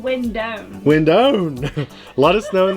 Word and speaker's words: Windone: Now a debate between me and my wife, is it the Wind1 or the Windone? I said Windone.